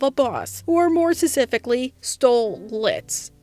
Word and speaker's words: Stolitz: boss or more specifically stole lits aka the show's main pairing of Stoess and Blitz hence the name the last toe is silent and we're mostly going